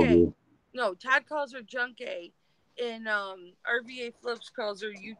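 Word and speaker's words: Junk Kay: Everybody pronounce it differently. Now I know. Junkie.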